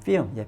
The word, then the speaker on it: film: 제가 잠깐 film이라고 읽는 이유를 혹시 아시는 분들은 알겠지만 LM이 겹치면 영어에서 L을 발음을 안 합니다. 그래서 이게 한글로 쓰면 안 되지만 필름이 되셔야 돼요. film.